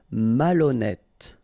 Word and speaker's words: malhonnête: Okay, remember H doesn't exist, so malhonnête. Don't insist on the final E. Malhonnête. And here you get E accent circonflexe, so you pronounce it like E. Malhonnête.